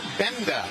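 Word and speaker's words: Gbenda: Jalen Ford and David Benda he spells his last name with gee you'd think it would be pronounced but the g is silent so David benda the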